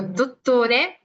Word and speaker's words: dottore: Entonces, yo digo dottore, dottore, si ustedes lo dicen, ahorita hago pasar dos personitas para que lo digan, justamente cuando dicen dottore, están tal cual pegando lo que es la lengua a los dientes para que suene así, ¿ok? Y es completamente dental este sonido, ¿ok?